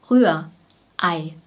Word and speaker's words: Rührei: Das heißt, die Zunge bleibt unten, Rühr, A, A, A, Rühr, Ei. Und EI spricht man als AI aus, Ei, Ei. Ganz kurz.